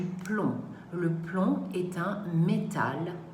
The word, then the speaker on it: plomb: dernier s'éteint au piège le b ne se prononcent pas donc on va dire du plomb le plomb est un